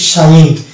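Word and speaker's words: sign: আমি শব্দটা দেখতে পাচ্ছি সাইন এখানে জি উচ্চারণ হচ্ছে না সাইন অনুরূপভাবে এটা ডিজাইন এলাইন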